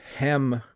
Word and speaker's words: hem: it's a hem okay so notice the difference again you eat ham and you hem clothes it's a slightly different pronunciation you eat ham and